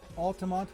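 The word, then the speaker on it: Altamonte: Altamont with a silent E.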